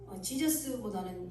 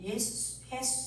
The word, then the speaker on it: 예수: 그래서 뭐 여러 가지 뭐 이렇게 발음들을 하지만 지저스보다는 예수 이렇게 예수라고 말하는 발음이 더 원어에 정확합니다.